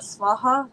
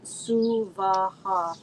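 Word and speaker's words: svāhā: energy of the mother not swaha but sua three separate equal distinct syllables so for purposes of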